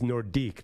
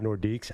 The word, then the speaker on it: Nordique: French attitude oh no it is nordique not nordics I can't handle that